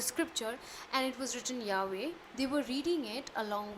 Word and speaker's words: Yahweh: shift or balance more towards Yahweh, YHWH, as how it must have been pronounced.